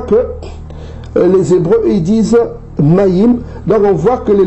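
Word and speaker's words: מים: Maintenant, en hébreu, ça se dit Maï, et ils prononcent le M, Maïm. Pour ceux qui prononcent le M. Or, on sait qu'en paléo-hébreu, on ne prononce pas la consonne finale.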